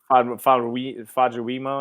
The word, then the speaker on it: Famuyiwa: Famuyiwa or whatever it is. Yes, Famuyiwa.